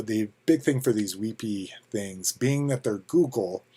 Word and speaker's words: WebP: the big thing for these and and they're pronounced weepy uh the big thing for these weepy things being that they're google their page speeds